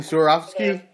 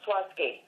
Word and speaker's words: Swarovski: Maybe it's the new Swarovski stones that came out, or You mean Swarovski? Of Swarovski. I'm sorry? Swarovski? The crystal? Swarovski. Yeah, Yes, okay. Swarovski. Everybody pronounces it differently.